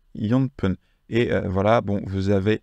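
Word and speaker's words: 四分: mais s on va pas dire yon fun mais yonp et voilà bon vous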